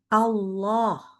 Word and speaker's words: Allah: selalu membacanya adalah kata Allah. Ya, Allah itu harus kita ingat depannya itu Hamzah. Maka bacanya A. A. Lalu Allah itu dilanjutkan dengan huruf lam. Lamnya bacanya tebal.